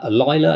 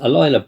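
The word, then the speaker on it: Alyla: um and also um Aila I think it's pronounced alila Brown is playing furiosa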